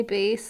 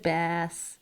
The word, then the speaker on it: bass: time Rachel she was trying to say bass like the the the uh instrument she said bass oh yeah she kept saying B I was in the class when she did that I it's like are you talking about the fish or are you talking